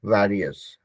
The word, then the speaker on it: various: जिससे वायरस होता है ना, उसी का थोड़ा अलग फॉर्म यूज कर सकते हैं, वेरियस।